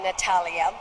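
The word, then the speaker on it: Natalija: mother's sister was named natalia and i was named for her and of course the serbian spelling has a j in it and it's not pronounced but that's the way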